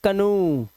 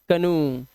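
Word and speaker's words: canoe: लेकिन कुछ वर्ड में ओ ई का उच्चारण उ हो जाता है।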